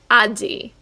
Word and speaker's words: 味: are going to focus on the other reading aji which is how we just read this kanji